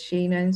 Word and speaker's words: Shannon: So my name is Shannon. Shannon, others pronounce it as Shannon. So depending on where you learned your English, the pronunciation.